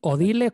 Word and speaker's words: Odile: Odile, ¿cómo se pronuncia el Odile? Odile, Odil. sí, sí. Odile Rodríguez, muy bien. Su mujer era francesa y Odile es un nombre francés. Supongo que se pronuncia Odile.